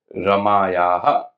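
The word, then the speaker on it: रमयोः: रमाय रमाभ्याम रमाभह पंचमी रमायाह रमाभ्याम रमाभ्यः षष्ठी रमायाह रमयोहो अब इधर ध्यान देना है रमयोहो रमा है रमायोहो नहीं करना है रमयो तो षष्ठी है रमायाह रमयो रमाणाम रमाणाम सप्तमी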